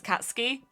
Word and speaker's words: Katsuki: eye will there'll be two eyes so you'd pronounce it katsu ki and it just annoys me that i've heard